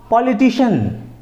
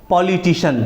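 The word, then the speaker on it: politician: जिस वर्ड के लास्ट में सी आई ए एन आता है या आएगा तो उसको भी शन पढ़ा जाएगा तो चलिए तो सी आई एन के तरफ बढ़ते हैं तो पॉलिटिशियन अब पॉलिटिशियन का स्पेलिंग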